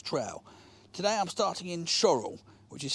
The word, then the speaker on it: Shorwell: of the vectus trail today I'm starting in choral which is spelled sure well but it's pronounced choral I'm going back to Yarmouth to complete the